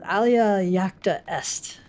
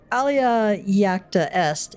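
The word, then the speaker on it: alea iacta est: Oh, Alia Yaka est.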